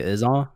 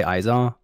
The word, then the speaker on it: IzAw: I personally say Izaw. Okay. A lot of people say Izaw.